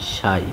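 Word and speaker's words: psi: plus I সাই টি সাই এর উচ্চারণটা হলো দেখো এরকম পি এস আই সাই পি এর উচ্চারণটা হয়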